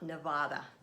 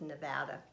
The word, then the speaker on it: Nevada: And by the way, people who live in Nevada, it's not Nevada. Actually, people who live in Nevada hate when other people pronounce it Nevada, because it is Nevada.